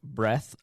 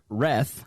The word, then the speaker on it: Reath: My guest is Facebook friend Breath. Whoops. Wreth. Excuse me, I said breath because my my pronunciation here says breath and I I read that instead.